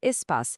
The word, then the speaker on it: Spass: Se pronuncia ESPAS, que é a nossa plataforma de benefícios.